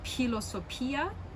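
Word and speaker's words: φιλοσοφία: like aspirated pi so with like uh philosophy it would be pilosopia but in lucian and modern greek this just starts to sound like an f so filo sofia and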